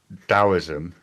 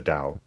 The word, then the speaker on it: Taoism: No, Daoism, first of all, it's it's pronounced as if the T were the letter D. So it's pronounced Daoism or the or the Dao.